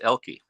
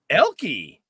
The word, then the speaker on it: Oelke: The O is actually silent. It's Elke. Elke.